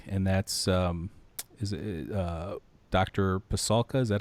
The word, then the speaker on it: Pasulka: Pasulka? Is that how you pronounce it? Yeah, Diana Pasulka.